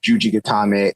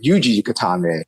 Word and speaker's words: Juji Gatame: of just like there's Juji Gatame and Ude Gatame. And some people call it Yuji Gatame. And like Yuji, what's Yuji? I've never heard of Yuji before. It's just different pronunciation because of language like just like how